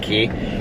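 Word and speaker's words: Quay: on i like these key sunglasses they're it's q-u-a-y but they pronounce it key i like them but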